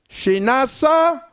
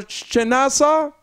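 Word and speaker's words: Chinasa: Well, Miss Cartwright, I want to extend a happy birthday to your daughter, Shinasa. These children got strange name, but it's spelled capital C-H-I-N-A-S-A, Oten.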